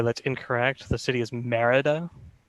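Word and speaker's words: Mérida: answer um sorry that's incorrect the city is merida accent on the easter i forgot that city existed i've never been to spain uh so 15 points on 13.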